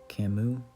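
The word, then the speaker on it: Camus: of Samuel Becket and U Albert Camu I think I I used to say is last name wrong and um kofka and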